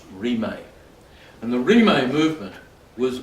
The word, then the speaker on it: Rimé: In the 19th century, there was an amazing movement in Tibet called the Rimé movement, R-I-M-E-D, but pronounced Rimé.